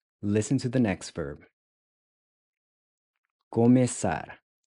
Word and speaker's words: começar: Começar. Começar. Começar. Começar to start. So this interesting looking C symbol is pronounced like an S.